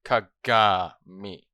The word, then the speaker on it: Kagami: Every time I'm gonna say Kagami is gonna be pronounced Kagami, because it's the right word. It's the right pronunciation. The only pronunciation for Kagami.